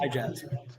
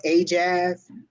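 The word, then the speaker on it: AyeJazz: When I asked her how to pronounce it, she just broke the two words apart and put A-Y-E and jazz. So Keena said, hey, as it's probably pronounced A as in hey, so A-Jazz.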